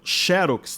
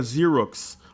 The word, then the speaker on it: Xerox: Só que a pronúncia certa é com a letra Z, né? Então é algo que pouca gente... Então seria Xerox, alguma coisa parecida com isso.